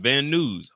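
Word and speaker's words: Van Nuys: He pronounces it news. Also, I was right the first time. Van News. Van News. That's what I'm gonna say.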